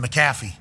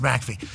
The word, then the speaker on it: McAfee: It's like, well, my name could be pronounced Macaffy, you know, and it's like, hey, it's Mackey.